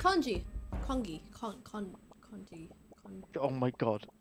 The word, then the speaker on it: congee: It's congee. Congee. Congee. Oh my god. The fact that you mispronounced that.